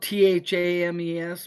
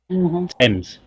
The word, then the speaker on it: Thames: country where the the main the biggest river is spelled t-h-a-m-e-s but it's pronounced Tim's Thames the teams Thames this original name is not